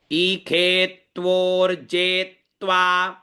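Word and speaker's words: इषे त्वोर्जे त्वा: ये ई शब्द है, ये ख है, षटकोण वाला जो है यहाँ पर, जिसको अपन मूर्धन्य शकार बोलते हैं, इसको यहाँ पर ख का उच्चारण करना है।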